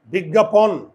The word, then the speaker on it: বিজ্ঞাপন: এটা বুঝো তো আপনার উচ্চারণ লেখো তো এটার উচ্চারণটা কি আপনকে আপন বলি তাহলে বিজ্ঞা এই যে এই যে আপন বিজ্ঞাপন না বিজ্ঞাপন বিজ্ঞাপন বিজ্ঞাপন পোন পোন চোয়াল খোলে